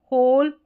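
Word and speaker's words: whole: हर करके जैसे हु होल हुज। क्यों? क्योंकि यहां पर डब्ल्यू जो है वो साइलेंट है।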